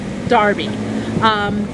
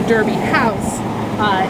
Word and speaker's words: Derby: but it was all it was spelt a lot DNR be y which meant that it was pronounced Darby but current pronunciation when you speak a derby street or the Derby house is to pronounce it the ER that's why we go back and forth depending we're talking about lies haskett Darby or Derby Street the families felt that